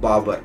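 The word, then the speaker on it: barber: के पास जाते हो, बाबर, BAR को R प्रोनाउंस नहीं करेंगे, BAR, बाबर। ठीक है, ये जो बीच वाला R है इसको आप प्रोनाउंस नहीं करोगे फ्रेंड, इसको आप बाबर बोलोगे।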